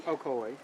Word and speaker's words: Ocoee: We're in the, how do you pronounce it? Ocoee? Ocoee.